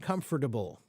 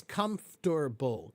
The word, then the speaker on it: comfortable: one pronunciation probably okay comfortable there are two ways that people will say it okay comfortable and comfortable okay they're both fine okay one is comfortable comfortable three syllables and